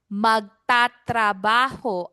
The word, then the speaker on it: magtatrabaho: Yes, you can say magtrataho or you can say magtatrabaho. Both are correct. I just use tatrabaho because it's harder it's a little harder for everyone to roll their Rs. So just roll your R once na lang.